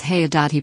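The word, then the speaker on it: Haigha: happy his name is haya.he pronounced it so as to rhyme with mayor dot i love my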